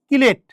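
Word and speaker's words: chelate: এই যে এই ধরনের লিগ্যান্ডগুলা যে চাকরিক লিগ্যান্ডগুলা যে যৌগ গঠন করে এটাকে বলে কিলেট। অনেক বইয়ে এটাকে চিলেট লেখা আছে। মূল উচ্চারণ অনুসারে কিলেট। কিলেশন। কোন কোন বইয়ে এটাকে কিলেট চিলেট লেখা আছে।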